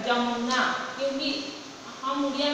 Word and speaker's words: यमुना: य का उच्चारण हिंदी में ज नहीं होता, जबकि उड़िया में शब्द के आरंभ में उपसर्ग युक्त होने पर तथा संयुक्त वर्ण होने पर उच्चारण ज होता है। जैसे शब्द लिखा है, जिसे शब्द लिखा है जमुना, यमुना, उड़िया में कैसे उच्चारण होता है, जमुना।